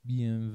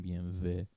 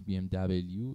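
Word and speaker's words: BMW: پس بی ام و رو که برند آلمانی هست رو فهمیدیم چرا میگیم بی ام و. پس بی ام دبلیو اشتباهه دیگه.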